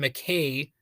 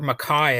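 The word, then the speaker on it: MacKaye: Jorgenson is collaborating with Ian McCay or maai I've heard it pronounce both ways but he is from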